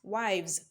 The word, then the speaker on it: wives: word is pronounced as wives wives wives so the sound represented by that let's say s is the sound z z z wives wives